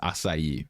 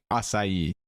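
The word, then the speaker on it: açaí: know that it's pronounced asai this is a public service announcement PSA please say asai okay that's how we say it in Portuguese and it's not that hard aai not aai aai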